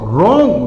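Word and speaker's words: wrong: फिर देखो रॉन्ग रॉन्ग यानी गलती या भूल। इसमें भी डब्ल्यू साइलेंट रहेगा। सीधा आप यहां से बोलोगे रॉन्ग। डब्ल्यू इसमें साइलेंट रहेगा।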